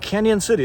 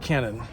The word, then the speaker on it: Cañon City: And Cañon City is how you say it, not Canon, Cañon.